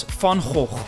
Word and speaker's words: Van Gogh: Speaking of paintings, let's go to the museum of the most famous Dutch painter in history, Van Gogh, which we pronounce in Dutch as Van Gogh.